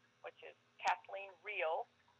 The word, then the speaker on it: Rehl: l e e n her last name is pronounced real but it is spelled r e h l dot com so i've